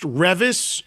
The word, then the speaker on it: Revis: but this band, and I believe it's pronounced Revis, R-E-V-I-S.